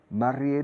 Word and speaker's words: married: Married se pronuncia mare, married. Como air, hair, married. Recordad la palabra en español mérito. Y ya os acercáis un poco.